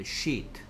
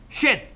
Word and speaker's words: sheet: 얘 발음은 sheet라고 해야 돼. sheet. shit 이러지 마시고요. shit 이러지 마시고요. 맞습니까? 이건 똥이란 뜻이죠. 맞습니까? 얘는 shit. 얘는 sheet. 좀 더 길게.